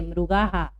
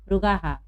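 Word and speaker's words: मृगाः: नव मृगाहा, इसको मृगाहा नहीं पढ़ेंगे, मृगाहा। यहाँ देखिए विसर्ग के पहले आ की मात्रा है, इसलिए हम हा उच्चारण कर रहे हैं, मृगाहा।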